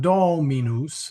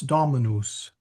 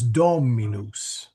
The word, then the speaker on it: Dominus: Is that a long O or a short O? The Dominus or It's a Dominus? short O. It's not Dominus, it's Dominus. Okay.